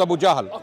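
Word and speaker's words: Abu Jahl: said Abu Abu J you I'm correcting your pronunciation of Abu lahab you said Abu the the person the cprit was Abu jahal okay AB Abu no no no Abu jahal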